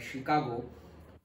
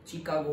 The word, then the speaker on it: शिकागो: कई लोग शिकागो को चिकागो भी प्रोनाउंस करते हैं, पहले ये गलत था। जब मैं तुम्हारे जितना था तब हम इसको अगर चिकागो प्रोनाउंस करें तो वो गलत था, आज गलत नहीं है। तो आज शिकागो भी प्रोनाउंस करते हैं ज्यादातर लोग, लेकिन कई लोग चिकागो भी प्रोनाउंस करते हैं जिसको गलत नहीं कहा जाता।